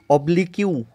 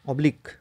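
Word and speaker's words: oblique: অবলিক অ্যাসিম্পটোটের definition হচ্ছে, definition মানে বার করবো এইভাবে যে নাও এটা OBLI QUE, হ্যাঁ, উচ্চারণ কিন্তু অবলিক ইউ এরকম হবে না, কিন্তু অবলিক এরকম উচ্চারণ হবে।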